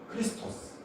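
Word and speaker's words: Χριστός: 근데 기독교인이라는 단어를 보면 그리스도인은 크리스토스, 딱 리와 에, 요 발음 한 끗 차이예요.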